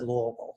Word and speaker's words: Louisville: right outside of louisville i said louisville that's how you pronounce it um i went to